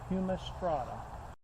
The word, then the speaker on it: humistrata: Asclepias humistrata. Humus, like humus, strata.